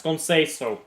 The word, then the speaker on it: Conceição: If Google Translate is correct, you pronounce it as Conceição.